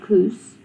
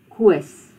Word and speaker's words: Koos: So you must remember that this Koos is not Koos, Koos. It's not Kobus, it's Kobus.